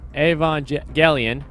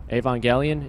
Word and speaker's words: Evangelion: we're polishing off the month with uh neogenesis avon galleon i hope i think i pronounce it right evangelion yeah yeah there we go with one point